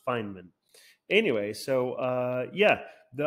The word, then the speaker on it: Feynman: I was just interested in the life of Feynman um fine men yes I before I always call them Feynman but yeah I learned that it's pronounced Feynman anyway so uh yeah the I originally got